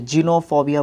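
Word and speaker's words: xenophobia: Spelling की तरफ ध्यान दीजिए और फिर प्रोनाउंसिएशन की तरफ ध्यान दीजिए। जिनोफोबिया बोलते हैं इसका मतलब क्या होता है?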